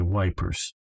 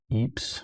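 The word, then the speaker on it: Ypres: i know that okay wipers wipers eeps however you want to pronounce it both are correct okay yeah we're going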